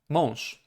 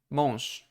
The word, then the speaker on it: mąż: Okay, so it is voiced, but you will use the softer version at the end of the word. So it will be mąż, mąż. This word is mąż, mąż, mąż, right?